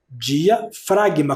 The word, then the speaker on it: diafragma: é o músculo diafragma Olha como se escreve diafragma diafragma com o g mudo ó diafragma é um